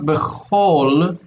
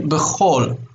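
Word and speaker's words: בְּכָל: V'ahavta et Adonai Elohecha b'chol levavcha. And you say, okay, b'chol. B'chol, that's an example of Kamatz Katan.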